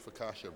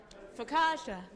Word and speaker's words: focaccia: That's our homemade focaccia bread.